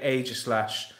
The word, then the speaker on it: Aegislash: Now, I know loads of people say it differently, but I say Aegislash. Let me know how you guys pronounce it.